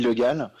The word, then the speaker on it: Le Gall: Alors non, en fait, mon vrai nom, c'est Le Gall. Le Gall qui s'écrit en 2 mots, donc L-E, plus loin G-A, 2 L.